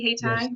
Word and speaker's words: Hayti: He's the founder of Hey Thai. Did I pronounce that correctly? Hey Tai, you did.